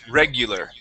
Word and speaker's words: regular: up is regu okay remember that U is going to be an EU sound regular regular okay very good